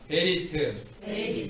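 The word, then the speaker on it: בְּרִית: 메리트. 한번 발음해 볼까요? 다 같이 따라하시기 바랍니다. 베리트.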